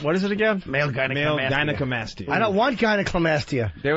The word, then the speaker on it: gynecomastia: We should ask Edward Norton if Meatloaf really had male gynecomastia. Gynecomastia. Uneducated and buffoon. President Bush pronouncing gynecomastia. Is it gyneca or gynecla? No L. No, I didn't think so.